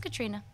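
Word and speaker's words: Caitríona: So an I-O sound together makes an E sound, so it's just Katrina. Oh. Katrina. No, it doesn't sound as exotic, right? Yeah. I'm going to keep calling her Catrione.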